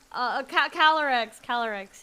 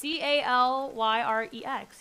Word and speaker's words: Calyrex: Yeah, I think it's like Cali, Cali, like California, and then Y-R-E. REX. No wait, it's CALYREX. Yeah. Oh, it's a Y.